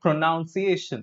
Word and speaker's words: pronunciation: See, when you use it as a verb, it is pronouns. That's okay. But then when you want to use it as a noun, so it is not pronunciation, as the verb is, it is pronunciation.